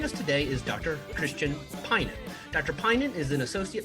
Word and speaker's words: Pinnen: And I realized I should have asked you, do I pronounce your last name as Pinnen? Is that Pinnen. correct? Pinnen.